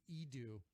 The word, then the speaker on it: Edu: It's EDU. I know you're thinking college, but you're wrong. It's just how Andrew pronounced his name when he was a little kid and couldn't say Andrew.